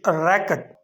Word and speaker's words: record: Here word RECORD has two different pronunciations in different scenarios. When you take it as a noun or when you use it as a noun, you should pronounce it record. But when you take it as a verb or when you use it as a verb, you should pronounce record.